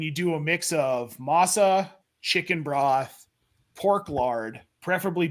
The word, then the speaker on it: masa: baking you mix it pronounce Mesa but I must put must be wrong on that one dude you are you are it's Masa so you take the